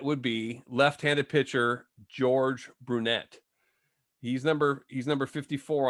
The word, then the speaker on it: Brunet: a veteran lefty and i gotta correct you on your pronunciation of his name okay martin his name is george stewart brunette ah okay yes that's